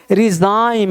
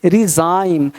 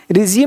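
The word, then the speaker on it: resign: determined देख रहे हो रिजाइन यहां पे जाइम पढ़ेंगे रिजाइन रिजिम नहीं रिजाइन रिजाइन देख रहे हो यहां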